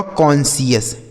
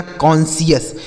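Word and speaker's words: conscious: तो सी ओ एन से दोस्तों हो गया कौन? सी आई ओ यू एस का उच्चारण हो गया सीएस। यह लिखा गया आपका कॉन्शियस।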